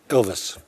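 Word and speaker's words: Ilves: Well, I want um on that area I might ask President Ils, did I pronounce that correctly, sir? Ilvis.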